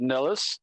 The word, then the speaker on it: Nilles: I know someone that has that exact spelling, and they Nilles. pronounce it Nilles.